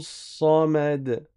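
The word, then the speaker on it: صمد: Donc ça donne Allahu Samad. Là, le sad, il est emphatique. C'est pas un sin, hein, c'est pas ça, ça, sa. L'arrière de la langue doit monter vers le haut.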